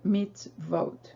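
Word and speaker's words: מצוות: said, with the consonant, and so that vav has to be a v. So again, we have the word mitzvot.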